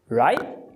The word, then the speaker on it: right: Essa palavra, ela está no final da frase, você tem um T que está glotalizando, sendo pronunciado com a parada glotal. Então, right vira right.